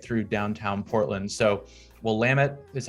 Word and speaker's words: Willamette: like willametta willa maytay and of course the willamette river runs right through downtown portland so we'll lamit is how you say that uh definitely one